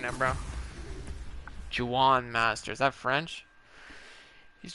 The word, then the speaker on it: Juan: Like I should know it's Juan.